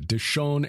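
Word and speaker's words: Dishon: that's a gal of andreas d-i-s-h-o-n and d-i-s-h-a-n deshone and deshawn these are the chiefs of the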